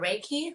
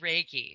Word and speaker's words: Reiki: And my 3 modalities of assistance are Reiki, light, and crystals.